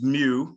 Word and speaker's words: mu: be effective against the lambda and pardon any mispronunciations mu or mu variants anyone can jump in so um and it's mu it's the mu variant the lambda and the